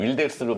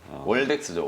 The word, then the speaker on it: 월덱스: 월덱스를 요즘 윌덱스로 발음을 네. 많이 하신다고. 월덱스죠, 월덱스. 월덱스. 네, 월덱스고.